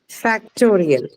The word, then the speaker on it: factorial: The second last syllable. Factorial.